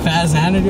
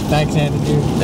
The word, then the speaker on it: Faxanadu: Stuff Mario, Kid Cool, Dragon Spirit, Captain Skyhawk, Marvel Madness, and Fazanadu. I don't even know how to pronounce that. Faxanadu? Yeah, Faxanadu.